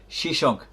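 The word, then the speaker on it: Sheshonq: was of libyan descent his name in egyptian is sha and is frequently following the assyrian vocalization pronounced shishank his rise to powerport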